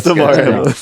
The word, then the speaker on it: Damar Hamlin: That's Damar Hamlin. The right. No. I know. I was saying. I feel like I was pronouncing his last name wrong.